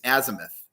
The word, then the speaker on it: azimuth: and you were very you were correct in the last pronunciation pronunciation it's Azimuth all the points on the